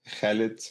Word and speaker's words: Khalid: Then you have like the cha sound. Sometimes in English you do pronounce it, like Khalid, for example.